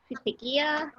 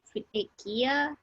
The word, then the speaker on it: futekiya: By the way, it's futekiya, not futekiya. So yeah. Yeah, we get a lot of comments like how to pronounce futekiya. It's futekiya. Futekiya.